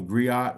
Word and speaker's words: griot: um there there is a term called the griot or the Grio however you want to pronounce it you know that's an